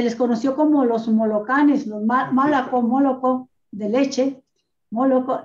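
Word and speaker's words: молоко: Allá esta religión ortodoxa rusa tiene fechas en que prohíbe el consumo de leche, y leche en ruso es malaco, y se pronuncia moloco.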